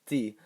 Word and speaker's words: petit: Take the word you've probably heard before, petit, which means small. This is the masculine form, and notice the silent T.